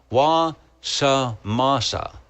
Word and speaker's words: Wasamasa: The Wasama Swamps is pronounced Wa-Sama. Okay, I've got to do this. I'm trying to. Wa-sa-masa. Oh, Wasamasa. You mean I left off a syllable?